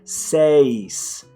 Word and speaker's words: seis: corrected me and said, no, it's not seis, it's seis. Seis. You have to pronounce each of those vowels.